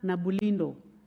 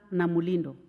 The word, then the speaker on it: Namulindo: of adjournment was moved by the Honorable Oscar Nabulindo. So most of you have just been saying by the Honorable member. I realize that it's very difficult to pronounce his name, but it's Honorable Oscar Namulindo.